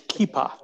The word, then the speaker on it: kippah: the kippah is uh i had never actually heard that pronunciation before but that neither had i uh yamaka interesting it's kipa kippah thank that's a difference in dialect yeah so for those